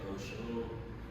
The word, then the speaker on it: Oshun: Yeah, my name is Oshun. I've been trying to pronounce it correctly. It's actually Oshun.